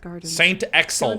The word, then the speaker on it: Saint Axel: given by its owner that's how it's pronounced in French it still contributes Saint Axel with a hard X the building is regularly